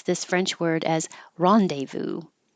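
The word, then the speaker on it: rendezvous: can say no or ni neonic and Americans pronounce this French word as Rondevu Rondevu and finally we have Odo rhinol Len colist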